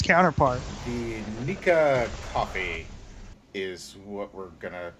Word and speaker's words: Nikka: drinking its counterpart the nica coffee is what we're gonna oh it's not nickel n-i-c-k-l-e no it's it's nika no i could pronounce this bottle nikka coffee exactly and this